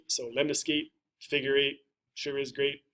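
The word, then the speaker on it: lemniscate: to go to is the lemon skate lemna skate remind remember remind excuse me rhymes with figure eight so lemon escape figure eight sure is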